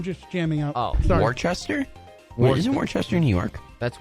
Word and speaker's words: Worcester: Is it CH or is it CE? No, it's WORCESTER. Yeah. It's Worcester or it's like Worcester.